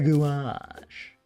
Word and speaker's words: gouache: I think I'm probably pronouncing it in the cringiest way. It's pronounced a gouache.